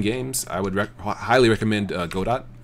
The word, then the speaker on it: Godot: I would highly recommend Godot.